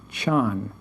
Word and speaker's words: chan: zen however etymologically comes from the chinese word chan c-h-a-n chan which means meditation chan comes from